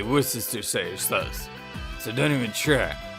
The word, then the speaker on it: Worcestershire: I've always said Worcestershire sauce. I'm missing an entire syllable in that my whole life. Yeah, like I said, there's like 5 different ways to pronounce that word.